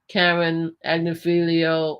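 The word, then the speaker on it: Agnifilo: Okay, so anyway, to name the defense is Karen Agnifilio. Oh, I pronounced his name right.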